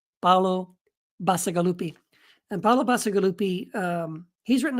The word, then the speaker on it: Bacigalupi: How do I pronounce this guy's name? Paolo Bacigalupi.